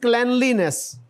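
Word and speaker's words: cleanliness: अच्छा जी, आगे जो है ये सफाई, this is also one ऑफ the miss pronounced words, this is क्लैनलीनेस, क्लैनलीनेस।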